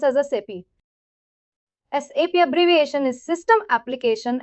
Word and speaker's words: SAP: understand first as I said we have to pronounce not SAP. We have to pronounce as a SAP. SAP abbreviation is system application and products in data processing. We should pronounce as SAP not SAP.